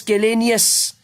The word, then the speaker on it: scalenus: And this is the scalenus posterior. Though it is pronounced as scalenius, it doesn't include EUS in its spelling. It is scalenus, NUS.